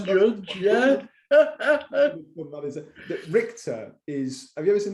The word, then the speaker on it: Richter: But I think the official pronunciation, or more accurately, the way the person who I've stolen it from pronounces it is Richter, because I think it's German, and I think it means judge.